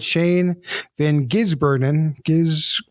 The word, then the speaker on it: Shane van Gisbergen: and I'm probably going to screw up the pronunciation. Let me get this right. Shane Van Gisbergen.